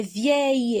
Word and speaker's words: vieille: On va dire elle est vieille, elle n'est pas encore petite. Alors, vieille. Et on a 2 syllabes. Vieille, le.